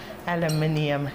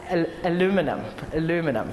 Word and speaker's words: aluminium: And then with the Americans say aluminum. No, anyway. I'm not going to confuse. Aluminium. That's the way I say it.